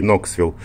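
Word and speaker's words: Knoxville: говоря пригород ноксвилл а ноксвилл пишется через кей ну произносится без кей ноксвилл и рядышком здесь alcoa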